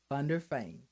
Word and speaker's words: van der Veen: wanted to say it right on their fame thunder fame very good very good i want you to